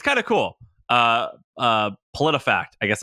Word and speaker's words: PolitiFact: I actually don't know how you pronounce this. Uh god, everyone makes fun of me for not being able Politico? No. Uh Politi uh p o l i t i fact.